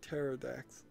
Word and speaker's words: Pterodax: Pterodax? Yeah, that's how you spell it. The P is on it. Pterodax.